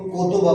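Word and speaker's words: 言葉: क्या हो गया ये और ये लफ्ज जब मिलता है गैन और हा जब मिलता है तो को तोबा बन जाता है इसको को कहते है इसको हा कहते है और जब को और हा मिलता है तो क्या हो जाता है को तोबा कोबा मतलब अल्फाज तोय खाजी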